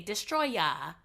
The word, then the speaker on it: Destoroyah: He's Destroyer, but it's pronounced I don't know in Japanese as like they say Destroya.